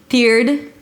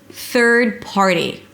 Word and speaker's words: third-party: Third-party, it's not fe'rd PAR-dee it's not te'rd-party or te'rd-party. Th'rd PAR-dee. Th'rd - bring the tongue up for the th and pull it in immediately for the R. There is no vowel in the middle: th'r, th'rd.